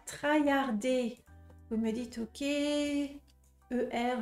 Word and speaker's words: traillarder: je vois pas ah il faut penser à la prononciation française le r en français vous savez il est vraiment différent du R en anglais en français on fait re c'est ça ça gratte là c'est c'est comme si